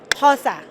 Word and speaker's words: Xhosa: Xhosa, that's the tribe. That's how you pronounce it.